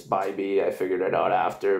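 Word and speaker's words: Bibee: the intro but uh I said Phoebe but it's by B I figured it out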